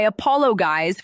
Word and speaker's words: apologize: I apologize for the inconvenience. Apologize. Stress on the second syllable.